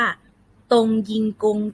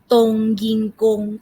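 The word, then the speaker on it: 冬阴功: ยำ กุ้ง นะ คะ ภาษา จีน ออก เสียง ว่า ตรง ยิง กง ทาง ตรง ยิง กง ทาง ก็ คือ ต้ม ยำ กุ้ง ตรง ยิง กง เหมือน ออก เสียง ทับ ศัพท์ เลย นะ คะ ตรง ยิง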